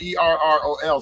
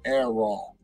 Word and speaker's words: Errol: His name is spelled E-R-R-O-L, so we used to always call him Errol.